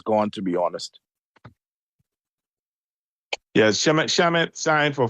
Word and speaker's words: Shamet: Shamet, how do you pronounce it? Landry Shamet. Shamet, yeah, they re-signed him.